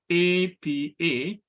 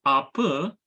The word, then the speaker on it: apa: So for example, the word spelled APA is pronounced apa in Sebutan Johor Riau, but apa in Sebutan Baku.